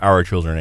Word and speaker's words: Hour Children: name come from so a lot of people when I say our children they think of o r but our our name is spelled h o r and it it is